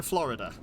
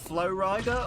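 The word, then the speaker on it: Flo Rida: You say no to my pronunciation of Flow Rider, or... You are not calling Flow Rider Florida, but that's how he spells his name.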